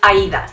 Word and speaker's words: Aida: but if I haven't surprise my name is Aida you heard right Aida it's really a ID a simple four letters you wouldn't think that